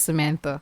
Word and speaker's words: Samantha: areas of the country, it is not pronounced as my mother named me, Mm. which is Samantha. Okay.